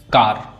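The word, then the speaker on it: car: जैसे कार, कार, इसको हम अगर वैसे इसको कार पढ़ते हैं, लेकिन इसका उच्चारण सिर्फ का होता है।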